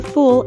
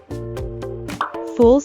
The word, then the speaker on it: fool: Note that the double O in fool is an sound, which we pronounce by raising the back of our tongue while rounding our lips and moving them forward a little. Fool. Fool.